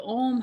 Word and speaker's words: Om: new way, which is the Om has 3 syllables within one. And so it contains a whole practice within one sound. So the first sound is ah, and that happens in